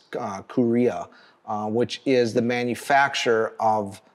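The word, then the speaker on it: Kureha: Seaguar is, you know, I think the pronunciation of their parent company is Korea, which is the manufacturer of the crystals themselves.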